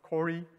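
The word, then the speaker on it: CO-RE: Sometimes it is like pronounced as Cori.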